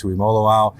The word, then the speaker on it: Tuimoloau: We have defensive end JT Tuimoloau. I've had to spend 3 years getting to make sure I can get the pronunciation all right.